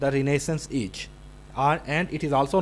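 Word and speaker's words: Renaissance: and number three is रिनेसेंस रिनेसेंस the word is रिनेसेंस and even some time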